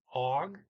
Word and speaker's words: og: and a man man the g can be pronounced it's usually not here i mean you og is okay they do